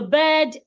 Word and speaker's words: bird: Pronouncing B-I-R-D and B-E-D the same way. No, please. One of the things that lets you know that a word has a long vowel sound is letter R.